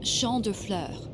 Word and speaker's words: Champ de Fleurs: Champs de Flores? How do you say that? It's Champ de Fleurs. It means field of flowers.